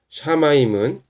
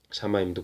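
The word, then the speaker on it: שָׁמַיִם: 샤마임은 샤마임 쉰에 오른쪽에 이렇게 코마가 찍히면 sh 발음 난다 그랬어요.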